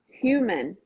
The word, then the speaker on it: human: mc fingers crossed here human human okay that's it that's the best way to go um in portuguese the h is silent for humane huge humongous and then we kind